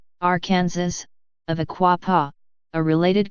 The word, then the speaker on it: Arkansas: 1881 the pronunciation of Arkansas with the final s being silent was made official by